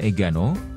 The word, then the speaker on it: engano: Di samping itu, nama Enggano yang dikenal sekarang kemungkinan berasal dari bahasa Portugis Engano, diucapkan Egano, yang bermakna kesalahan.